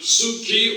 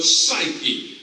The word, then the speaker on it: psyche: The fourth word is similar to Psyche. It is Psyche. In this case, I'm going to spell for you not Psyche or Psyche, but Psyche, which is P-S-Y-C-H-E.